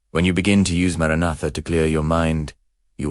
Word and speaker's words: Maranatha: Speak the word aloud. Maranatha. Stress the second syllable. Let it vibrate in your sternum.